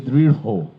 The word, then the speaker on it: দৃঢ়: যেমন উদাহরণ হিসেবে আপনাদের বলি দৃঢ়। দৃঢ় এটির উচ্চারণ হচ্ছে দৃঢ় হো। দৃঢ় হো একটি আলাদা হয়কার যুক্ত হচ্ছে। একইভাবে কিং কর্তব্য বিমূঢ়, হ্যাঁ বিমূঢ়, এরকম যা পাবো সব হয়কার যুক্ত হয়ে যাবে।